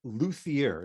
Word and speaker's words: luthier: So you are a luthier. Is that how you pronounce it?